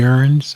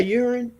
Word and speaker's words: urn: and get into fancy urns. I think I'm pronouncing that right. And they put them up on the mantelpiece. Did you say urine? Is it urine? Urn. Urn. Thank you.